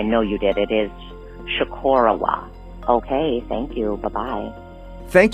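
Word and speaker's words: Chocorua: I just wanted to make sure that you had the correct Abenaki pronunciation because you folks may have got the wrong pronunciation. Actually, I know you did. It is Shikorowa.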